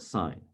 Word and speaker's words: sine: we pronounce this though i know it spells the word sin but we don't say that we call it sine so the perspective we're